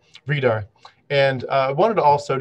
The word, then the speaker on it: Vridar: So long E, Vridar.